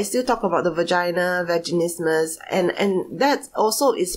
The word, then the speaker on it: vaginismus: uh and is they they will call it ver instead of saying vaginismus they will say virgin ismus so it it is